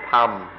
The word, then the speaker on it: ธรรม: In Thai, they don't even try, they just pronounce it tham.